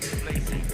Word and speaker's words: Tbilisi: Japan we didn't actually know about, but then who knew there was a silent T in Tbilisi?